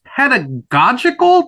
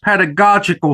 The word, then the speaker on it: pedagogical: might not be familiar with, and that is pedagogical. Did I pronounce that correctly? Yes, you did. Yes, pedagogical.